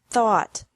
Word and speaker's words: thought: teach taught taught think thought thought remember that the g is silent in these verbs verbs with three different